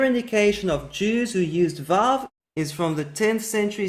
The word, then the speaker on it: Vav: The letter Vav exists in Arabic and it's pronounced wow. And in fact, the pronunciation of wow comes from Arabic. The letter was originally pronounced V, and it was the influence of Arabic, which was the native language of most Jews 1,000 years ago, that the Vav was transformed into a W.